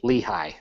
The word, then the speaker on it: Lehigh: One that's extremely obvious is the name Lehigh. L-E-H-I-G-H. You drop off the G-H, you don't even freaking change the pronunciation. It still says Lehigh.